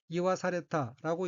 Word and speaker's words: 言わされた: 셋째 줄 맨 오른쪽 어휘는 한자가 말씀 한자가 들어있고 일본어로는 이와사레타라고 읽으며 이와사레타는 말하다는 뜻인 이후의 사역수동형인 이와사레루 말하게 하다의 과거형입니다.